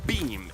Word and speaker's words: Beme: Beme is spelled B-E-M-E, and maybe this is obvious to everybody, except it took me a long time to figure out that that also spells be-me.